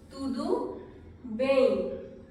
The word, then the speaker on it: Tudo bem: इसका मतलब क्या है मैं आपको बताऊंगी, but this is how it is pronounced. Tudo bem.